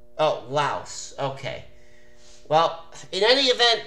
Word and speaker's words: Laos: Mark I don't mean interrupt you but it's pronounced Laos oh Laos okay well in any event though AJ the